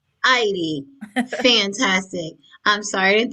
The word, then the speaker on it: Eide: Heidi rhymes with Heidi. Heidi.